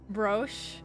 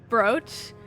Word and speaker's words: brooch: Broche? I don't fucking know. I'm not fancy enough for that shit. Brooch?